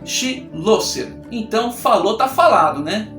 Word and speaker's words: Schloesser: elefante da sala logo como é que pronuncia o seu sobrenome outra sobrenome difícil schlosser schloesser chillest chulé Coelho trouxe esse negócio né E ele falou se pronuncia che lo ser então falou tá falado